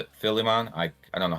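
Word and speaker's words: Philemon: your new spirit guide, his name is uh Filman. Filimon. I I don't know how to pronounce his name off the top of my head. Phileon.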